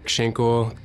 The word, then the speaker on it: Shinkle: call sign came from it also rhymes with my last name shinkle uh so it it